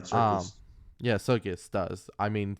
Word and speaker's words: Serkis: You said it right, Serkis.